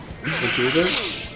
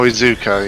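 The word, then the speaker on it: Iizuka: Ikuza?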